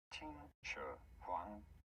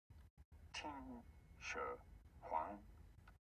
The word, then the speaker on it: Qin Shi Huang: How do you go about pronouncing this one? Qin Shi Huang. Qin Shi Huang. Pretty straightforward once you know. Qin Shi Huang.